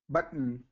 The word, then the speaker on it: button: okay so I heard I heard you actually pronounce the T there so uh so kind of stop the T there so button button there you go forgotten